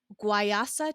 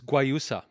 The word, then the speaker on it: guayusa: it's honey free it's also organic it's caffeinated guayasa tea is am i pronouncing that right jason it's guayusa guayusa thank you okay um and it's all